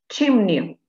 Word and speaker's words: chimney: Chimney. Поскольку слово имеет у нас два гласных звука, да, то нужно первое у нас поставить ударение. Первый слог у нас ударный.